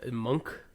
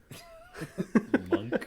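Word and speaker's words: Munck: How do you pronounce his last name? Monk. Monk?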